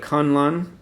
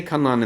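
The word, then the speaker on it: K'un-Lun: And it's K-UN like K''UN L''. It's like a modern toddler's name. Yeah, and so I was like, well, okay, they say Kunlun in the trailer, so I'm assuming they know how to say it.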